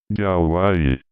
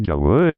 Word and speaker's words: Yahweh: Aunque llamativamente, en este mismo glosario de la traducción Reina Valera, 1960, se reconoce que la pronunciación original debió de ser Yahweh, ya que su significado se asocia con la idea de ser o de existencia.